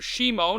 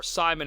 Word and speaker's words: Shimon: BC it came to his brother Shimon or Simon as we pronounced him in the West um the younger brother